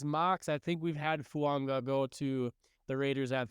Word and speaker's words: Fuaga: So my number two guy is Talise Fuanga, and I have learned this pronunciation, and it looks like it's Fuaga, but his last name's actually Fuanga, which is different.